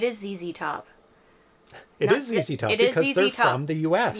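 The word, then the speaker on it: ZZ Top: call Carl it is zzy top it is easy top because they from the US yeah we would not say z z top it's that just sounds so wrong I heard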